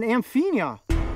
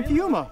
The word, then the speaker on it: Amphiuma: I think this is an amphinia. Is that how you say it? Amphiuma. Really? Amphiuma.